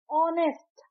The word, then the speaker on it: honest: एन ए एम आई तो यहां पे टी साइलेंट है ऑनेस्ट हम लिखते हैं एच ओ एन ई एस